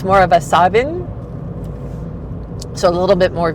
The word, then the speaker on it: Samhain: Um, so those who are witches in the no will say sawin or savin and not sam hayne is how you can tell the outsiders.